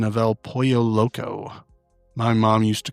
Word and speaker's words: pollo: It's not polo. So chicken in Spanish is not a shirt that you wear? No, and Ashley even explains it, because I remember learning that the double L can be pronounced as a Y in English.